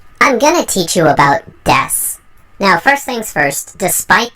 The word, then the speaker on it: です: Just for now, keep in mind that this word is correctly pronounced as des, regardless of whether or not it has a U in the end. Des is an ending word representing is, am, and are.